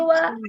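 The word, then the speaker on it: は: Ini partikel wa ditulis dengan huruf H ya. Ini hurufnya H, tapi kalau sebagai partikel itu dibacanya wa. Jadi kalau contohnya ini watashi ha, ini dibaca watashi wa.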